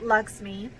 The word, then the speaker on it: Lakshmi: We named our brand, pronounced Lakshmi, after the Hindu goddess of beauty and prosperity, Lakshmi.